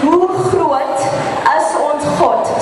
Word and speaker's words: Hoe groot is ons God: For the chorus, the way you pronounce it is Hoe groot is ons God.